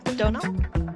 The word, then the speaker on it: Donal: Oh, is it Donal? Oh, yeah, Longo. Yeah, rhymes with tonal.